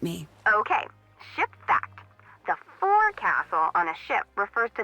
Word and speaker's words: forecastle: ship, but it's pronounced forecastle. Why's that? Try pronouncing it like an English sailor with no formal education.